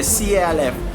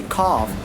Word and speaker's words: calf: See the CALF. Not we cannot say calf. We say cough, half, palm, would, should, could, fork, and york.